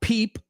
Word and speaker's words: peep: So, peep rhymes with reap, rhymes with steep, rhymes with deep.